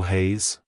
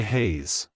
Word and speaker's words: Hayes: sound at the end keep the z sound short and crisp like hello Hayes goodbye Hayes if you found the